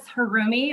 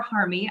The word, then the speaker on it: Harumi: which is the gray that i get to teach hi my name is harumi or harmy either pronunciation is good i currently teach 10th